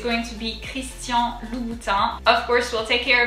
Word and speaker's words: Christian: going to be christian instead of christian we're going to do christian so let's break it down into two syllables chris similar just the r is kind of guttural comes from the throat crease the s is the little snake that comes towards you kris and then the last syllable is um so a.m in french is on so christian christian now let's go ahead and